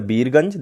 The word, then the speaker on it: Birgunj: That is the Birganj, that is the Birat Nagar. That is the correct pronunciation. Biratnagar and the Birganj.